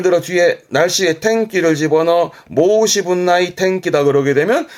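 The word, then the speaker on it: 申し分: 뒷글자는 분자죠. 발음은 모시분. 모시분이라니까 말할 부분을 말하는 거기 때문에 말할 부분이라는 것은 뭔가 부족한 부분, 나무랄 부분입니다만은 이것 또한 뒤에 나이 붙여서 모시분 나이.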